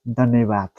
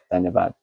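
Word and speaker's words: धन्यवाद: Dhanyavad. Dhanyavad.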